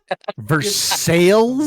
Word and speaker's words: Versailles: Versales.